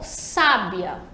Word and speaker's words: sábia: na segunda sabia né então ó sábia a sílaba tônica é os a primeira sílaba acessar sábia e identificada